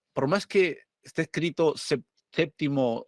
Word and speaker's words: séptimo: aquí me plantea algo la pronunciación de p se dice se relaja considerablemente en el grupo PT situado en el interior de la palabra pero solo es normal su pérdida en séptimo y septiembre o sea por más